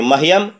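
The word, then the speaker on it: मह्यम्: उच्चारण पर ध्यान देंगे, कहेंगे मह्यम, हय संयुक्त है मह्यम आवाभ्याम अस्मभ्यम, असम संयुक्त भय संयुक्त म अस्मभ्यम।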